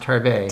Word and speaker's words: Tarbais: It's pronounced Tarbay.